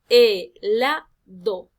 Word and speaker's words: helado: El palabra, por ejemplo, helado. Si yo pronuncio esta palabra y analizo dónde está la sílaba tónica recae sobre la sílaba la. Es helado. No es helado, no es helado, sino helado.